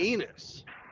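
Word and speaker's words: Ennis: Going to Enos, which is south Enos. of Dallas, Oh. which rhymes with penis.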